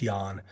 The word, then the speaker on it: Jahn: My last name is an old Black Forest German name, pronounced Jahn.